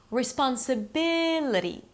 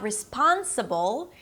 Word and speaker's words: responsibility: you add the suffix, the stress falls on the one syllable before the suffix, the one syllable to the left of the suffix.